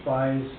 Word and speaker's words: Spies: My goodness, right before the applicant comes back up for rebuttal, just for the record, Matt Spies, is how you say his name, at 4098 North State